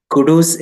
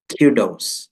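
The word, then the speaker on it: kudos: പറയൂസ് yes okay കുടൂസ് എന്ന് നിങ്ങൾ പല പല ആളുകളും കുടൂസ് കുടൂസ് കുടൂസ് എന്നൊക്കെ പറയുന്നതൊക്കെ കേൾക്കാറുണ്ട് ഇതിന്റെ ശരിക്കുള്ള ഉച്ചാരണം ക്യുഡോസ് ക്യു ക്യു എന്നാണ് ക്യു ക്യൂഡോസ് ക്യൂഡോസ് okay way ടു ഗോ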